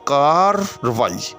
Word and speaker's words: کارروائی: یہی کچھ ہے، کار، تو یہاں جو پہلی رے ہے وہ ساکن ہے، آگے روائی، اس کی جو رے ہے وہ متحرک ہے، اس کے اوپر زبر ہے۔ جی ہاں، تو اصل لفظ جو ہے وہ کارروائی۔ تو اگر آپ اس کو روانی میں پڑھیں، ملا کر پڑھیں، تو آپ اس کو پڑھیں گے کارروائی۔ جی ہاں، وہ کارروائی